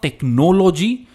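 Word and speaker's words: technology: इट्स नॉट टेक्नोलॉजी, इट्स टेक्नोलॉजी। Stress नौ पर है, टेक्नोलॉजी।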